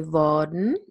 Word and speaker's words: worden: I definitely don't pronounce the R here. I say worden. I just use the R to lengthen the vowel.